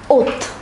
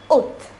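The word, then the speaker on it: août: zhuang july is pronounced as joey august is pronounced as oath so once again let us say for may it is may june is pronounced as juwan ju1 july is pronounced as juvie august is pronounced as oath notice this symbol here it is called a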